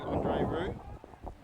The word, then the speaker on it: Roux: That's Roo, is it? Is that how you pronounce his name, number 1? Andre Roux, yes. Andre Roo.